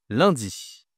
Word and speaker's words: lundi: Le premier jour de la semaine, c'est lundi. Lundi. D'accord. Alors, attention à la prononciation ici. Un n, ça se dit 1. C'est une nasale.